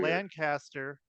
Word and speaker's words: Lancaster: Lancaster, but it's Lancaster is how you say it here.